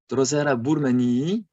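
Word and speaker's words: Drosera burmannii: For example, Drosera burmanii, you have to pronounce the 2 E, or Pinguicula elaciae.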